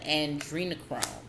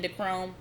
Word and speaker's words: adrenochrome: Starting with the adrenochrome. I know in my other video I was saying endochrome. Sorry, forgive me. Adrenochrome.